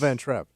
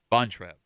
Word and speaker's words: Von Trapp: How do you and spell it's Van Trapp? Von Trapp.